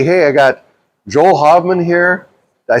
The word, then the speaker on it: Haveman: Hey, I got Joel Haveman here.